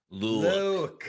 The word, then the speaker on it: lewk: You guys, when you spell it LEWK. Luke. Luke.